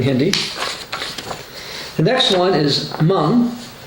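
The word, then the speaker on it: Hmong: the next one is mung that one I know how to pronounce even though it's spelled h m o n g because I've lived in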